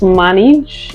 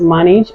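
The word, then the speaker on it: Maange: this brush is from Minaj I guess it's pronounced manage it's m-a-a-n-g-e so this is pronounced manage and it's a slanted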